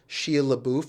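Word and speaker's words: Shia LaBeouf: you know terrible good but painful like um Shia labou that's how you pronounce sh sh lauff he was the best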